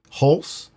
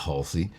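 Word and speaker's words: Hulse: You butchered his name. It's H-U. Okay, you say it. H-U-L-S-E. Holes. Holes. Holes. I think it's Holes. Halsey. Is it Halsey? It's not Halsey.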